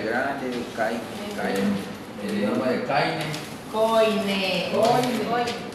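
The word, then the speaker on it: Koine: Coine. Aunque se escribe Coine y se presenta Caine.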